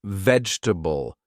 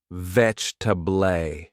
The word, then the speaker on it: vegetable: One time I pronounced vegetable as though it had all those letters ve. My friend smiled and told me it's vegetable.